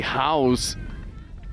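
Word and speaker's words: Howes: Sophie House getting the ball down. But it was Jose Josephine House and there is a difference. House spelled H O W E S. House spelled like a house.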